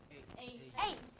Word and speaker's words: eight: Eight. Does it sound like a normal ta? No. It's like a ta with a combination of a little of tha.